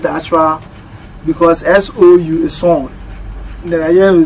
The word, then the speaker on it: Sawnd: Well, you can contact me on Facebook, it's Sawnd Factory. So the Sawnd is not the normal spelling, S-O-U-N-D-S. It's S-A-W-N-D.